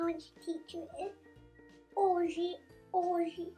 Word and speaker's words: hoje: So the second word I want to teach you is hoje. Hoje. Normally Brazilian people don't pronounce H, the letter H. So you don't say hoje, you say hoje, hoje.